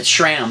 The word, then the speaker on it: SRAM: of people swear by this shram as they say that's right you know but sram is how they say it oh yeah uh one